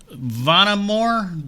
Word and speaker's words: Vonamor: a great band on here for you today vonnamore did i s did i pronounce that right yes yeah oh good i'm